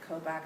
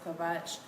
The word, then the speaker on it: Kobach: have people like Chris I think he pronounces it kobak I think it's actually Chris kobach um and other people who